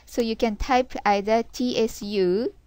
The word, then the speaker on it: つ: you can type either Tu or TSU but pronunciation is uh closer when you say TSU s okay because it's not to this is